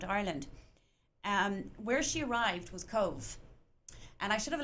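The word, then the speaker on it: Cobh: Where she arrived was Cove, and I should have a lovely photo of Cove Cathedral. And Cove is spelled C-O-B-H, pronounced Cove, C-O-V-E, but spelled C-O-B-H.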